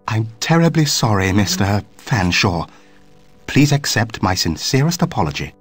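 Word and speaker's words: Featherstonehaugh: large drink then what ex excuse me Mr Featherstone Hall I presume I can't believe it no can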